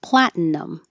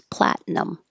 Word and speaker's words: platinum: and found out that you can also make a n in the middle, platinum, platinum. But it's very short, so you don't even have to say it. You can just make it two syllables, platinum. And secular, secular.